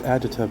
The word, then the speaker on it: agita: Just agita by itself. Right. It is pronounced agita.